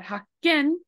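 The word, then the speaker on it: 発見: But hakken means discovery, and they both have the exact same hatsu right over here, but the difference of pronunciation has to do with that voiceless plus voice thingy.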